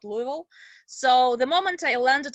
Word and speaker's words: Louisville: louisville actually kentucky and i pronounce it with the kentucky accent if i want it's louisville not louisville so the moment i